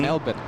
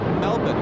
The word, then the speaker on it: Melbourne: Kevin they say Peter it's not melbin it's Melbourne I tell them no they're not from Australia if they say that yeah the locals say melbin they don't believe me